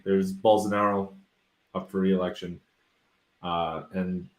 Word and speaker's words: Bolsonaro: name again because I I call him bolasaros but it's not Bola it's full scenario bolsonaro okay and uh Lula he's